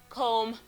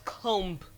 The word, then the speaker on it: comb: So it's found in man, them, hammer, swarm, number, film, lamb, comb, womb, mercury, bomb, market. Okay, this is not comb. The B in comb, lamb, womb, and BOM are all silent.